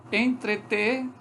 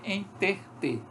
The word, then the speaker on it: entreter: Entreter, como as pessoas falarem, enterter. Então, veja, esse é um fenômeno de metátese, deslocamento do segmento dentro da própria sílaba.